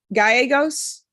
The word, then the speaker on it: Gallegos: Gallegos. Am I pronouncing that correctly? Yes, you are. I pronounce it correctly with the double L's and they're not even here to appreciate it.